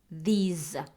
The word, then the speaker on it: these: Colima here Lisa DS not this no these Z sound not the S sound here Mac tuba bill